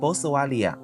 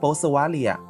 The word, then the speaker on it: Boswellia: Remember the scientific name of Boswellia. I'll repeat it twice, Boswellia, Boswellia.